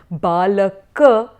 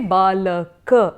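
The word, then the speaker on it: बालक: So if you have balaka, say balaka and not balak.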